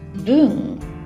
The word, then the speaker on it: 聞: gate that means listen it's pronounced boom in the case of the word shim and it's our second